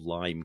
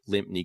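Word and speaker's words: Lympne: Um, and you know, I was calling it Limpy Castle until I interviewed Steve Holly and he said, "No, it's it's pronounced lime."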